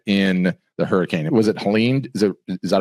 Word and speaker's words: Helene: absolutely devastated okay in the hurricane was it Helen is it is that how you say it